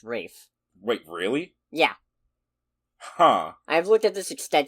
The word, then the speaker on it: Ralph: main guy in it I'm pretty sure it's pronounced Rafe wait really yeah huh